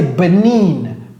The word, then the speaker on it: Benin: Donc, ça, c'est Benin.